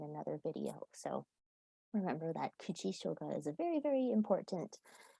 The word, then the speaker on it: kuchi shoga: Kuchi shoga, kuchi shoga.